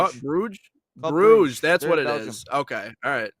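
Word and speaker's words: Brugge: what' you say bru g club bruge bruge that's what it is okay all right figured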